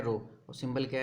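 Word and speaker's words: rho: क्या होता है, रो, इसको प्रोनाउंसिएशन क्या है, रो, और सिंबल क्या है, कुछ ऐसा, ठीक है।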